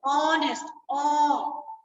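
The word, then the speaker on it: honest: तो इसके साथ आएगा ऑनेस्ट। अब ये भी एच से शुरू हो रहा है, ये भी एच से, ये भी एच से, बट जब हम इसको बोलते हैं ऑनेस्ट, ह नहीं, अ साउंड है, तो यहाँ पे आएगा एंड।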